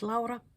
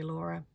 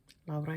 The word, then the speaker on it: Lara: My name is Lara or you're welcome to say Laura. Lara is the Finnish pronunciation of that name.